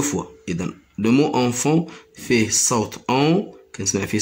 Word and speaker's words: enfant: Le T et S, ils ne se prononcent pas.